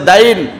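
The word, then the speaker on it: دين: মোহর শব্দ যোগ করেছি দেন তো এটা বাংলায় আমরা উচ্চারণ করি আরবিতে হচ্ছে দাইন দাইন মানে হচ্ছে ঋণ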